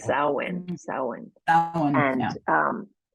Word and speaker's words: Samhain: in a little brief history, and it's called Samhain. I mean, it's pronounced Samhain.